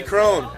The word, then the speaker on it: Crone: It's Penny Crone. You know, I love Penny Crone because her last name rhymes with bone.